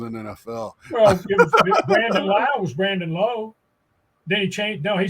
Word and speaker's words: Lowe: I don't know but the other l-o-w-e guy Josh is not Kent to him and he is called Low so you have a